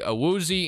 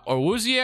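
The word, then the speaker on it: Awuzie: four from uh jadobi a woozy and then six we had uh orwoozi i think is actually how you say it but uh vida veya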